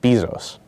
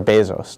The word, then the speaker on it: Bezos: Some famous examples of libertarians are Gary Johnson and Jeff Bezos, or Bezos, depending on how you want to pronounce it.